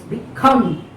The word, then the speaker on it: become: So this is the prefix rise, below, develop, become, B, you should not stress, become. Okay, you have to stress the word come.